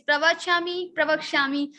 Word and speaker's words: pravakshami: Okay, what is the pronunciation of this pravakshami? It is pravakshami.